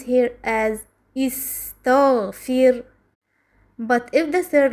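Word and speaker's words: اِسْتَغْفِرْ: The Ta here has a Fatha in the word istaghfir. So Hamzat al-Wasl takes Kasra. We pronounce here as istaghfir.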